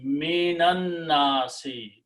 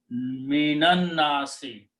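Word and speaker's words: من الناس: So separately, the word was min, al, nasun. But by the combination, we skip the sound of alif, we skip the sound of lam here. And to make it fast pronunciation, minan nasi.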